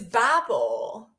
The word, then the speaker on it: Babel: know that Tower oh so it's Babel yes I've been pronouncing it wrong this entire time anyway don't worry it's